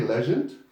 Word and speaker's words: legend: So this letter here is pronounced. What is it pronounced? J. So in phonetic transcription, this is how this letter is transcribed. So it's a J, J, J, J.